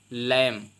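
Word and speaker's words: lamb: इसके बाद आता है लैंप यहां पर देख पाएंगे लैंप लिखा है तो बी नहीं पढ़ने हैं क्योंकि बी आपका साइलेंट राहत है इसको पढ़ने हैं लैंप लैंप मेंस मेमन इसके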